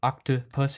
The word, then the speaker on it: octopus: when you say octopus that middle vowel the middle O is just uh octopus it's really short if you replaced it with any one of our vowels we'd still pronounce it octopus and that's a really